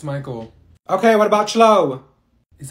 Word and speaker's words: Michael: she's beating rice you mean beatric thank you Mikel ma'am it's Michael okay what about ch is that you no